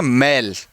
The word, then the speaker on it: मेल: तो इसका उच्चारण होता है मेल और इसका होता है मैल।